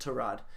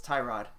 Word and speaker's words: Tyrod: yeah we had this argument it's definitely not to rod the English language decides that it's Tyrod I told you my name is fealty I